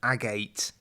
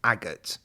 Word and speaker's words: agate: this one has an agate sorry agot it's pronounced agot apparently I thought it was Agate but it's agot a sort of orangey